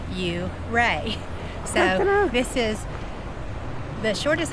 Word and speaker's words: Ouray: We're on our first hike in Uray and we heard it's pronounced Uray.